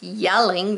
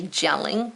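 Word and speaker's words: Jelling: Yelling, this is pronounced yelling, even though it's a J. We don't say gelling, we say yelling.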